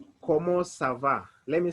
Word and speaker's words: comment: space v a so whenever you pronounce the first word in english it will sound like comment in english but in french we're going we're going to omit the last word we'll pronounce like como we'll forget about the